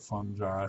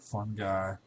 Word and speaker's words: fungi: kingdom i pronounce it fungi some people pronounce it fun guy either way is correct um but without belaboring